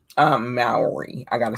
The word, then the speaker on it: Mowry: little bit more delightful so to speak tia mary uh maori i gotta say it right you know tien